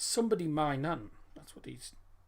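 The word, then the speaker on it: Maignan: is my nun m-a-i-g-n-a-n it's actually pronounced my nun it's pronounced man i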